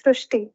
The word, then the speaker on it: Srishti: So in Marathi, the word re is pronounced as ru. So that is why the pronunciation goes Srushti.